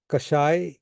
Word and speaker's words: Kashaya: It's formed with 2 syllables, Kash and I.